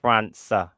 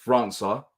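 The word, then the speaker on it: França: morning he got his name wrong it's actually pronounced France sir it's an S another C his last name yeah yeah so we're going to talk about France so we're going to talk about France sir we're going to talk about you know perfect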